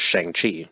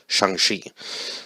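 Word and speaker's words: Shang-Chi: um because I would have totally butchered the pronunciation because I thought it was Shang Chi but it's actually shangshi so yeah I'm looking at that you wouldn't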